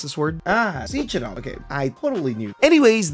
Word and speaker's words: Sechenov: The man's name is Dmitry Hey Siri, how do you pronounce this word? Sechenov.